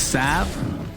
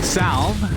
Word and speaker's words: salve: it called healing cell did you know it's sav does it have to be that that's the correct pronunciation if you say healing salve like me and cinderin you're pronouncing it wrong